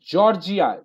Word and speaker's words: Georgia: He was from Georgia, USA. না, জর্জিয়া। You should pronounce this as Georgia, GORGIA, জর্জিয়া ইউএসএ, হয়েছে?